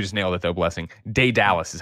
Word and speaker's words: Daedalus: Daedalus is how you say it.